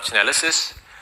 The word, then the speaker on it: Chainalysis: I'm the CEO and founder of Chainalysis.